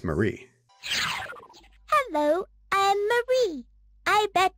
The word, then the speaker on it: Mary: with this Mary doll despite the spelling Being Mary she pronounces her name as Marie hello I'm Marie I